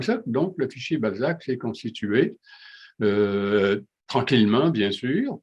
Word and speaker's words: Balsac: Alors, avant que quelqu'un se le demande, le Balzac, c'est les lettres initiales d'un certain nombre de régions du Québec. Et puis, le S, j'ai toujours prononcé Z pour avoir une référence à Balzac.